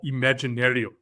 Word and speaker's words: Imaginarium: John, to conclude, and I hope I pronounced this right, you are a leader and a panelist for Imaginarium. Am I saying it correct? Yes.